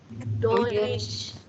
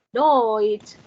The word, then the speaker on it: Deutsch: Nah, kalau teman-teman sekarang belajar bahasa Jerman Deutsch. Bahasa Jermannya bahasa Jerman Deutsch. Bahasa Jermannya negara Jerman Deutschland. Deutschland. Ya, dibacanya sekarang udah Deutsch, enggak Dutch ya. Nggak Deutsch, tapi Deutsch. Deutsch.